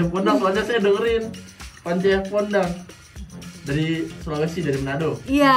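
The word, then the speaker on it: Pondaag: Enggak tuh bener Ponda Ab. Gue juga soalnya baca kayak kan gue agak diseleksi gitu ya. Ini apa bacanya gitu? Ponda kali gitu. Pance Ponda. Ponda Ab namanya. Oh bukan bener Ponda. Ini nggak ada nih Ponda Ab.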